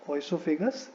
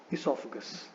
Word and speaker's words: esophagus: Now this word again should not be pronounced as oesophagus. It is not oesophagus, it is esophagus. Okay, so oesophagus is incorrect, esophagus is correct.